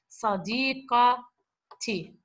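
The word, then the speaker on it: صديقتي: This ta, when you're going to attach it to my, which is a possessive pronoun, okay, what do? You change this ta. This pronounced the last letter, which is pronounced as ha, to become ta in the middle and attached to it.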